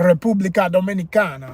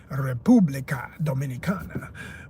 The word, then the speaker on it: República Dominicana: was in Dominican Republic, or as they say, República Dominicana. Let me say it proper. It's RD technically, not DR. That's how they say it in Spanish. You reverse it and it's República Dominicana.